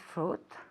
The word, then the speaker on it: fruit: Acuérdate, no decimos fruit, eso es como se ve, pero esto decimos fruit. Right? Como traje se escribe sweet, pero no se dice sweet, se dice suit.